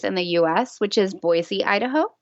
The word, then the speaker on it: Boise: the US, which is Boise, Idaho, which is pronounced Boise, not Boise. Oh. That's something locals will tell you.